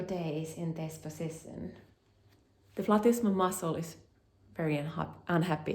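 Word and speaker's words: platysma: Whether it's here or here, it makes the platisma muscle very unhappy. I once again pronounce it the Latin way, but platisma is maybe how um Americans would say it.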